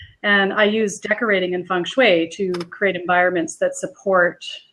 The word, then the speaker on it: feng shui: Am I saying it right? Yeah, it's feng shui is what it is. I was right. You were right. Yeah, okay. Feng shui.